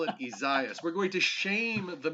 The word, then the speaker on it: Isaias: not uh become the ice storm which is pronounced izious no no not isaiah isaias i'm just going to call it tropical storm night no you're not you're going to call it izaias we're going to shame the media who will